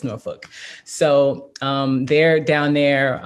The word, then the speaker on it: Norfolk: norfolk virginia and um i say norfolk but that ain't how they say it so you know in jersey we say norfolk but it's norfolk so um they're down